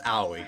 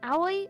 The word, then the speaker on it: Aoi: do i pronounce it just remember there's no y sound oh it's it's not